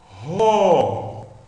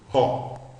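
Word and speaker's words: ὁ: N, arque, N, ro. Por que o senhor está lendo agora ro? Porque a aspiração é áspera, virada para o lado direito. Então agora nós lemos com aquele Hzinho do inglês. Ro.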